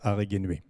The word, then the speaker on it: Araegenue: La ville importante dans notre région, c'est la ville qui est ici écrite Aregenuae, où est qu'on prononce en fait Aregenuae.